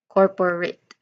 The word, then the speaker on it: corporate: So it corporate. So we pronounce it again, this one as corporate.